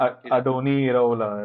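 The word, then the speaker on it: Andoni Iraola: I keep mispronouncing his name. Adoni Iraola, right? Same, Iraola.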